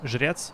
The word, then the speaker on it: Zhrets: And then I searched for the boss, like the main guy, the Shrek, or Zhrets, that's the way you actually pronounce it.